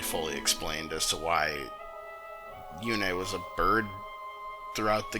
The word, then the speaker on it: Yune: I think that's the term the Big Clingy used, and I can't think of a better one, by Yune, and it's pronounced Yune, not Yoon.